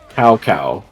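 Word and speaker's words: Cao Cao: w Way's name is CAO space CAO it's South sa but they pronounce it cow cow the whole time his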